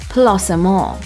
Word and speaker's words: placement: guests must follow first the word placement should always be pronounced the french way that's placemaul the second is the